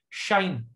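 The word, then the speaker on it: sinh: By the way, this is pronounced as shine. I mean, the English word shine, the sun shines.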